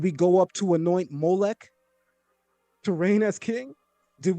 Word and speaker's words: Molech: Melch is how we say king. Malik is an angel. Molech is a god that the creator told us don't worship.